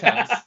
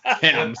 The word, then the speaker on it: Thames: people, the Thames River, which reads like the Thames. I got called out, which He got wrecked last episode. It's pronounced Thames. Thames. The Thames River, if you're in Canada, if you're an American, it's the Thames.